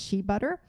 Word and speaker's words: shea butter: alternatives that i mentioned another one is shea butter sometimes pronounced shea butter and that is fat